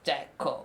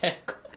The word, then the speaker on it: Jacko: It's pronounced Jacko, like this, because, and that's like